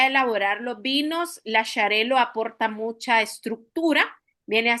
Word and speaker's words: Xarel·lo: Entonces son nombres catalanes. Se pronuncia Xarel·lo.